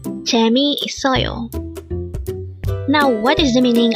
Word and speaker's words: 재미있어요: number 308 J so this is pronounced as a five syllable word the first syllable is